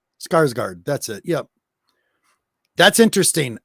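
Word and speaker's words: Skarsgård: never say right did it the clown oh skarsgard skarsgard that's it yep that's interesting i don't know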